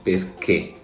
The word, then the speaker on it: perché: Primo errore molto comune è l'accento sulla E di perché. Perché questo è il suono corretto. L'accento che andremo ad utilizzare quindi sarà un accento acuto e non grave. Il suono non è perché, non è perché, è perché, per cui andremo ad apporre l'accento acuto.